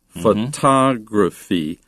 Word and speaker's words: photography: Be careful, though, with the accent or the stress of those words. Photograph, but photographer, photography, and the adjective photographic. So you can put the accent on the first, second, or third. syllable depending on its grammatical usage.